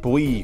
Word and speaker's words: V: Never said V in Japanese, it's pronounced Bui.